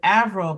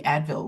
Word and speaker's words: Avril: like people often like I meet people that say oh ail like the singer living yeah yeah and I'm like no it's nothing like the singer I had this name before was even thought about but back in the day people wouldn't pronounce it aval but they would pronounce it something else like you know I had somebody call me Advil once and I'm like